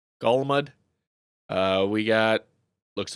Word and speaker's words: Golmud: we land ourselves on Golmud Raceway that's how you say it Golmud we got looks like